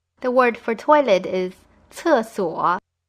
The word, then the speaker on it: 厕所: The word for toilet is 厕所. You probably noticed that C in pinyin is pronounced a little differently than in English. The sound is c, just like the TS in the English word cat.